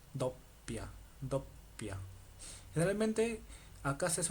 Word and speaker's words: doppia: Okay, acá hay una doble P, entonces tienes que pronunciar la doble P. Dopia.